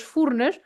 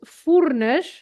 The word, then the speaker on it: Furnas: and so the sound, the pronunciation of the U is like a French U. So, for example, the town is Furnas, and they say Furnas. So we say Furnas, and they say Furnas.